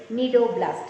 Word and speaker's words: cnidoblast: Cnidoblast. C is silent here, so we read it as cnidoblast.